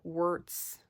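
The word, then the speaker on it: Wurts: I always say her name wrong. Wurtz. I reverse the S and the T.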